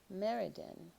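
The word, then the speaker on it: Myrddin: up so originally Merlin his name was Meridan and you spell that m yr d d i n the birth name was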